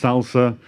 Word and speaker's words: SLSA: at something called slsa.dev It's pronounced salsa it's supply chain levels for software artifacts and press remember that